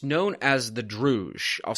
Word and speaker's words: Druj: It's known as the Druj. I'll spell it out for listeners. D-R-U-J, which roughly translates as like the nothing, is